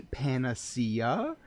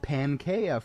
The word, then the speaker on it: panacea: A panacea? Interesting. I pronounced it Pankea for 5 years, but I learned how it was pronounced eventually.